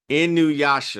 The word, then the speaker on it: Inuyasha: Best way to pronounce it. Well, thank you for the assist. Inuyasha.